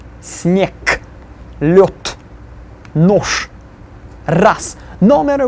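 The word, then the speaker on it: снег: Then the next one, sneg, will be sneg.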